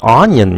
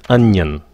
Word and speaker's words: onion: Các bạn điền cái phát âm là ó nhìn nha. Nó không phải là ó nhìn, nó là ân. Nó nhìn là ân. Cái xong mày nhìn. Nhìn là như nhìn vậy đó. Ân nhìn.